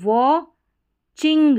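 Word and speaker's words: watching: डब्ल्यू ए व चिंग यहां पर टी सी एच है ना टी साइलेंट रहता है तो वॉचिंग वाचिंग टी सी एच को साथ ही में च पढ़ देना और आई एन जी इंग हो गया वॉचिंग वॉचिंग और यहां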